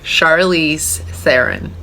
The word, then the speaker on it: Charlize Theron: How to pronounce Charlize Theron? Well, that was it. Charlize Theron.